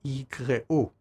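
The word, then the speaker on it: יקראו: In terms of the standard pronunciation, it's yikra in the singular, like in our verse, versus yikreu in the plural.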